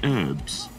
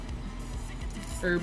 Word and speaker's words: herbs: then did you say herbs yeah we're called her we don't pronounce the h it's crazy yep yeah